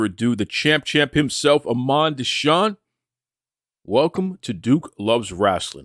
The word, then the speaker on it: Imon Deshawn: so without further Ado the champ champ himself amand desan welcome to Duke loves wrestling how you doing brother Duke say my name again Iman desan Duke say my name again Iman desan Iman